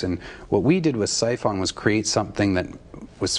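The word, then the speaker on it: Psiphon: do I pronounce it siphon Sion it's spelled PS i p h o silent P we put in there I thought it was but I wanted to ask anyway siphon um this is a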